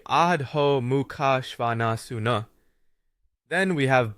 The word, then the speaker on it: Adho Mukha Svanasana: When it comes to Adho Mukha Svanasana, better known as downward facing dog, say Adho Mukha Svanasuna.